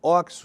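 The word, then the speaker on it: OXXO: essa rede, chama e eles tem até uma plaquinha na fachada assim, pronuncia-se oxo. Oxo é uma rede varegista, tá em todos os bairros de São Paulo.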